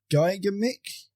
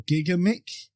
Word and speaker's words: Gigamic: apologies in advance because I'm going to butcher this because it is a French name. I believe it's pronounced Gigamic or Gigamic Games, but it's distributed